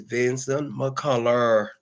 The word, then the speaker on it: Vinson McCullar: To those that don't know how to pronounce it very well, please look at it. And it's Vincent McCullough.